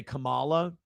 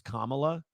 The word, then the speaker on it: Kamala: say Kamala Harris and you say Kamala, like the Ugandan giant versus Kamala, that apparently means you're racist.